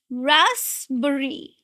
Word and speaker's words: raspberry: So let's break it down. It's ras. The first syllable ras and then again the two syllables are bree rasberry. Raspberry. Again the stress is on the first just like strawberry. It's raspberry. The sound is z. No z. Raspberry.